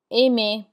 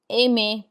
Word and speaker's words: aimer: The ER has an A sound like AY, danser, chanter. Then we have parler, which is to speak, parler, aimer, which is to love or like, aimer.